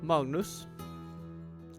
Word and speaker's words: Magnus: Magnus, I suppose. It would be, that's closer to a Norwegian pronunciation. I'm of course Danish, so I have a tiny blind spot for Norwegian, but Magnus, I believe, is the closest I'm gonna get.